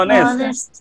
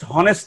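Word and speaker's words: honest: বলো, অনেস্ট, dish অনেস্ট, অনেস্ট, dish অনেস্ট, অনেস্ট, dish অনেস্ট। এটা কিন্তু উচ্চারণ অনেস্ট, হনেস্ট না। তোমরা কেউ হনেস্ট বলো না, এইচ এর উচ্চারণ হবে না।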